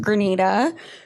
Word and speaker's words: Grenada: I come to find out, once I got there and I asked the locals, it is pronounced Grenada.